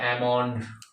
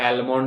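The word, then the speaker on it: almond: है अ यहां प अमंड अमंड मींस बादाम अब उसमें भी एल लगा देते हैं एलम कर देते हैं है ना एल साइलेंट है उसको लगा देते हैं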